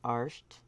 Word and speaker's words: Art: Celtic name for him is Art. Pronounced Arsht.